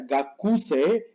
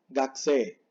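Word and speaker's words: がくせい: Esto no se pronuncia gakuse, sino gakse.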